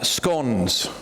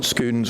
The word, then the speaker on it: scones: these were like uh scones that's how you pronounce it by the way scones not scons or scones or whatever so these were like